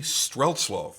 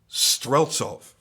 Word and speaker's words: Streltsov: So what Mad Russian Custom is, it's a collaboration between two partners, and they are Roman Romanov and Dmitry Streltsov. Wait, I am mispronouncing that. Streltsov.